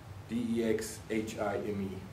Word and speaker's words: Dexheim: Dexheim, did you pronounce? Dexheim, Dexhime, Germany, which was very close to the Rhine River.